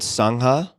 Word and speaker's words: sangha: include mmtcp a worldwide mindfulness teacher training cloud sangha if i'm pronouncing that correctly this is another word that